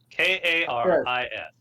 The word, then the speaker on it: Karis: it there it is k-a-r-i-s careless Charis like Karen with an s one okay I don't